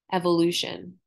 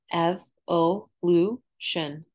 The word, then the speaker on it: evolution: Evolution. Evolution has four syllables. Evolution. Remember, T-I-O-N sounds like S-H-U-N.